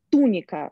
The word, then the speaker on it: туника: на на стене и у него звучит слово туника с ударением на у и одна из и